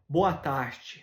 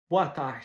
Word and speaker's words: boa tarde: Après ça, en portugais, boa tarde, boa tarde. Fait que le R, quand il est à la fin d'une syllabe, il ne se prononce pas.